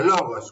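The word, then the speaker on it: λόγος: Una palabra griega que se pronuncia logos, como está ahí abajo escrita.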